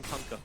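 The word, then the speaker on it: Kunkka: as well I mean conka you he the way TI yell it that's how you pronounce it you're welcome conka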